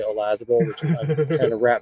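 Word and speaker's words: Olazábal: Jose Maria Olazabal, which I thought it was Olazabal, and I keep hearing the Brits say Olazabal and all the Europeans say Olazabal, which I'm trying to wrap my fucking head around.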